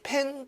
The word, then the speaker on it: PEN: 그리고 이것을 PEN 도체보다가 그냥 발음 나는 대로 펜 도체입니다.